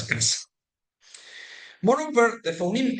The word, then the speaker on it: caza: The casa and caza are homophones, and they are both pronounced as casa.